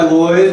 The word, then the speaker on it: Lloyd: Yes, my name is Lloyd. My last name is spelled L-L-O-Y-D.